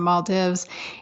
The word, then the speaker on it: Maldives: was out in the Maldives all alone or I guess you're supposed to pronounce in Maldives and this older man